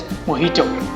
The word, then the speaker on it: mojito: The correct pronunciation is mojito. Mojito. अब इसका reason क्या है? Because mojito is a Spanish word और वहाँ पर J को H साउंड को प्रोनाउंस होता है.